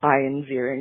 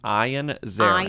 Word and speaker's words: Ian Ziering: Ian Ziering, which it says on his IMDb, pronounced Ian Ziering. Ian Ziering, which is the biggest gag of the century, that his name is Ian Ziering. It's the opposite. I've said Ian Ziering my whole life.